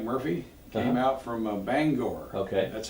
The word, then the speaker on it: Bangor: got a Mike Murphy came out from a Bangor okay that's how you pronounce it I have a beggar or not banger yeah yeah so he came but a lot